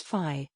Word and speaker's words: Pfizer: on the list was pfizer the american pharmaceutical company which announced a successful trial of a kovid 19 vaccine in november the correct pronunciation is phi so as the p is silent wuhan the chinese city